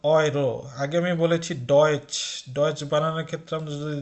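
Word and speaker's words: Deutsch: আগে আমি বলেছি ডয়েচ, ডয়েচ বানানোর ক্ষেত্রে আমরা যদি দেখি, ডয়েচ বানানো হচ্ছে কিন্তু ডি ই ইউ টি সি এইচ, এটাকে আমরা ডেউচ পড়ছি, ডেউচ পড়ছি না।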